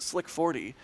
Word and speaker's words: SLC-40: If SLC-40 is pronounced slick 40, do we just say lick 39A?